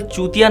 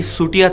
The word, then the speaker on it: Chutia: प्रियंका और अंकुर का उपनाम दरअसल चूतिया नहीं था, बल्कि सूटिया था। इसका उच्चारण सूटिया होता है। असमिया भाषा में इसे ऐसे ही लिखा जाता है, लेकिन यहाँ चौ का उच्चारण 100 के उच्चारण जैसा होगा।